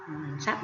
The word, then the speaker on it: ทรัพย์: กา รัน โท โร ทร เป็น อักษร ควบ นะ คะ อักษร ควบ ไม่ แท้ ออก เสียง ซอ รับ ซอ นะ คะ ครับ ทรัพย์ ใน ดิน สิน ใน